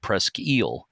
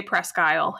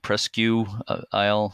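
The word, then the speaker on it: Presque Isle: of them pronounces it presel which is more like the French pronunciation but you do say ale right pres guy we do say pres guyle and uh we hear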